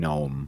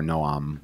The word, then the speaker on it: Noam: mostly because of Chomsky, who does pronounce his first name Noam. Right, and so people tend to assume that's the correct way. But yeah, it is more Noam, which is more the sort of Israeli type pronunciation of it.